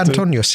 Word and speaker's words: Antonius: And is that how you pronounce it? No? Oh, anything. No, will do. say it so I can. Yeah, Antonius.